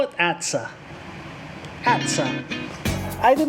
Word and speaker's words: ATSA: that every day and how do you pronounce it sounds like bad sir it's sure i'll call it atsa i did not buy